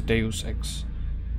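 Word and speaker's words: Deus Ex: I think it's de I think the the actual pronunciation is Deus X yeah but I didn't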